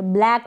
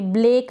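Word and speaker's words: blank: पढ़े ब्लंट ब्लैक पढ़ेंगे ब्लेक ना पढ़े ब्लैक और यह है ब्लड ब्लड ना पढ़े ब्लड और ब्लड में डिफरेंस होता है ब्लड प्रोनाउंस करें इसको इसको भी ब्लैंक पढ़े ब्लेक ना पढ़े ब्लैंक इसको पढ़ेंगे ब्लैंकेट क्या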